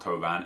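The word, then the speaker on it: Thauvin: I'm told it's pronounced Tovan anyway.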